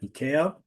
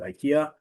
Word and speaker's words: IKEA: the um annual uh winter sale at EA. Some of you may call it IKEA, which is also a